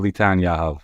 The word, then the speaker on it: Litan Yahav: So it's Litan or Litan Yahav. So you did it well.